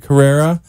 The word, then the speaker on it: Carrera: Carrera. That's Dr. Carrera. It's pronounced just like the Porsche Carrera, and he's a foot and ankle surgeon, hip preservation specialist at Florida Institute of Orthopedic Surgical Specialists.